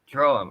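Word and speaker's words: Droaam: Droam, okay, I wasn't sure on the pronunciation of that.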